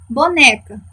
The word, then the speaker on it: boneca: Boneca. Chamem junto comigo. Boneca. Quem é a sílaba tônica? Isso, o né. Se o né é a minha sílaba tônica, é a minha penúltima sílaba, eu vou classificá-la de